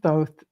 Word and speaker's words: Thoth: And if you're in meditation and you start talking to Thoth or Thoth, both are correct because everybody pronounces it differently.